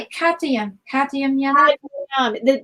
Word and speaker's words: Cadmium: Cadmium. The M comes right after the D.